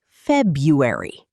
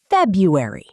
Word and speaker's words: February: Some people pronounce every letter. But in everyday speech, we usually say February. Repeat after us. February.